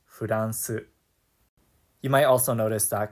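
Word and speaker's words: フランス: So for example, the name Erin would be pronounced Eren, and France would be pronounced Furansu.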